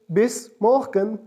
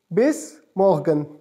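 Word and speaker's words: bis morgen: see you so see you tomorrow will be pronounced is base Morgan base Morgan simply next one is hammer nice day it's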